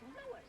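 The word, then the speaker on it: Loui: Me name is Lois, not Lois. Gee whiz, everybody in Triple H me name wrong. It's Lois. L-O-U-I.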